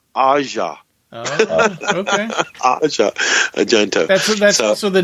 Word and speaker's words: Asia Argento: with uh with yeah asia argento yeah i met him in person and i called her asia and he he corrected me he caught he said her name is pronounced asha okay that's also the